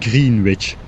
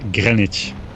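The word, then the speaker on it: Greenwich: supposed to be pronounced green witch why is it pronounced Grenich it's not how you write Grenich I guess a lot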